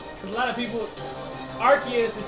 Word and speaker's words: Arceus: what will happen cuz a lot of people archus is spelled arus a r c e u s